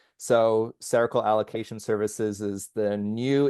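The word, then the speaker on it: Cercle: That's like sounds like the word circle but it's spelled C E R C L E. So cerakal allocation services is the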